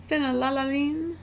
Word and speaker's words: phenylalanine: second one is the most fun to say phenylalanine been a lalalina canelloni and then your last